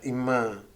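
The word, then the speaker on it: إمّا: Según Zamakhshari, la combinación de la partícula condicional in, si, con ma, eso que o lo que se escribe y se pronuncia imma, otorga al verbo turini,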